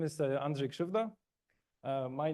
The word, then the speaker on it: Andrzej Krzywda: My name is Andre Shuva. Uh, my name is super hard to pronounce.